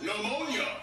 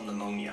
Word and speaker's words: pneumonia: The P is silent. Pneumonia does not start with a P.